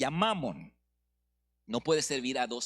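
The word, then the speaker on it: Mammon: es así no pero lo voy a decir con un acento distinto para que no se oiga Cómo es la grosería pero es mamon Okay Estoy enfatizando la primera sílaba no mamon como la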